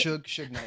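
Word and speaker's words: Suge Knight: they mentioned su su Knight is that you pronounce his name oh Su Knight su su Knight thank you and I realized he thought the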